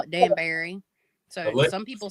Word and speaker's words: Danbury: We call it Danbury. So some people say it Danbury, or it's Danbury is the way we pronounce it.